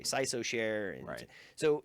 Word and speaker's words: CISOSHARE: have taken on also it's hard to pronounce so people say sigh so share and write so it's